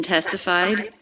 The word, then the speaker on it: testified: lower in pitch faster notice the ed ending here in testified it's just a sound it's the d sound so there's no extra syllable it's not a vowel and a consonant it's just a consonant and that's because the sound before was not a t or a d testified so just a